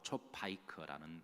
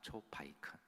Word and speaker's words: 초파이크: 이게 히브리 말로 초파이크라는 말인데요, 발음하기에 따라 초코파이로 발음할 수도 있습니다. 초코파이 비슷한 말 초파이크, 초파이크.